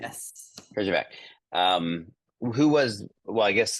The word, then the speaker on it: Herjavec: sharks, a gentleman by the name of Robert Herjavec, am I saying it right? Yes, Horrible Herjavec. name. Yes. Herjavec.